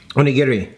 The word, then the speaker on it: onigiri: onigiri something really small onigiri you gotta say it like Fast not wrap the best